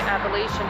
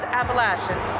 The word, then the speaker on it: Appalachian: imagine like most people, I always pronounced it the Appalachian Mountains. And then when I was in seasonal academy, my instructor was from the area and corrected all of us, and it is Appalachian.